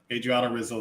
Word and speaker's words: Adriana Rizzo: that could be on Adrian Rosazzo. That's her name. Is that her cousin? Adriana Rizzo is how that's pronounced.